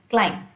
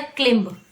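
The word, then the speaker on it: climb: Example दे रही हूँ, उससे पूछा गया इसको प्रोनाउंस करके दिखाइए, क्लाइंब। ठीक है, क्लाइंब मतलब चढ़ना, पेड़ पर चढ़ना। उसने उसको बोल दिया क्लिम्ब। मेरी फ्रेंड ने, फ्रेंड कह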